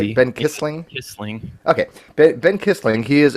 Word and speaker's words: Kissling: Kissling, yeah, Kissling. it's a lot of people get it wrong. They say Kisslinger a lot, but It's just pretty Kissling, right? easy. Ben Yeah, Kissling? Kissling.